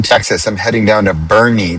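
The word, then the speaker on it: Boerne: I'm heading down to Bernie, Texas, which is spelled B O E R N E, which in Dutch would be Bor Bernie.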